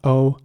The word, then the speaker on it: olive: Olive is spelled O-L-I-V-E, olive. And here it is very important to pronounce the I in the middle like an E sound. So olive, not olive, but olive.